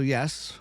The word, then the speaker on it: Ye: th as it's pronounced so yes you may have Ye Old shop but it's pronounced as the old shop I know interesting right